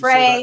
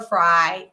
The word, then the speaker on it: Frey: How do you say Frey that? or Fry. That's not Fry. It's Frey. Fry is Fry or Fri. I can do either, but Frey is Frey.